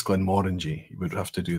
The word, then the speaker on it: Glenmorangie: have to learn that it's not Glenmorangie, it's Glenmorangie.